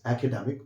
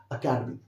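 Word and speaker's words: academy: एकेडमिक पढ़ाया जाता है, इसको एकेडमी मत कर दीजिएगा, दिस इज अकेडमी। ये आपको एक ही स्ट्रेस में बोलना है वर्ड को, this is अकेडमी, नॉट एकेडमी, इट्स अकेडमी, simple word है।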